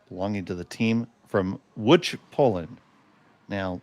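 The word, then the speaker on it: Łódź: to the team from Wood Poland. Now, that is spelled L O DZ, but it is pronounced wood.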